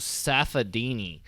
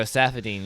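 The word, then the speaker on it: Saffiedine: Rafael dos Anjos versus Tarek Safadini. That was Tarek Safadine. There we go, Safadine.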